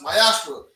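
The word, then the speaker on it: מעשר: Pronounced Mayashra in the Hebrew.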